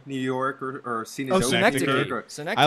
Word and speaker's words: Synecdoche: that movie that I don't know how to pronounce, that Cinedochi, New York, or Cinedochi. Oh, Synecdoche.